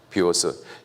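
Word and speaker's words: βίος: 비오스.이 이 비워스를 영어식으로 발음하면 바이오예요.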